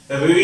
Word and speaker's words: ऋ: विशेष ऋ का उच्चारण हिंदी में ऋ की भांति होता है। ऋ जो ऋ होता है उसका उच्चारण कैसे होता है री के आधार पर, री की भांति।